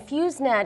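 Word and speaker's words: FEWS NET: to write down is fuset it's spelled Fe WS NE and fuset is stands for famine early warning system um but it's using satellite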